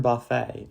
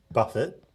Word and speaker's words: Buffett: Did you ever take inspiration from Warren Buffett on your investing? I do take inspiration from Warren Buffett, not Buffet.